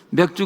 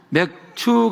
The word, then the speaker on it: 맥추: 어, 발음을 잘하셔야 됩니다. 잘못 발음하면 맥주 감사가 됩니다. 맥추 감사드립니다.